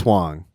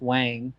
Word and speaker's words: Huang: you pronounce it yeah my family always says wang but that's kind of a mispronunciation that we've just adopted but huang huang when other people have